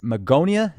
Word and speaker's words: Magonia: if we were to go back to the Magonia is that how it's pronounced that's right um Magonia was a fabled